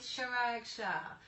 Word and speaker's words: Chirag Shah: I even have the Compass sign here because I'm in the Compass office with Chirag Shah. Is that how you pronounce your name, actually?